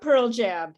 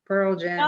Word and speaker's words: Pearl Jam: saying the same like pearl jam oh it was it was the word stress like i say pearl jam he said pearl jam so it's about word stress got it yeah it's